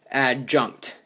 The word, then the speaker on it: adjunct: n c uh CT add junk it's like you're saying junk but with a T at the end anyway so that's how